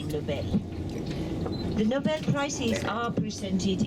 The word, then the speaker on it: Nobel: In Swedish, the name is pronounced Nobel, with stress on the second syllable. So we don't say Nobel, we say Nobel.